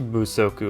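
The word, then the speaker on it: 不足: it's a compound word the first syllable became or it took on voicing because it's a compound word rather last word in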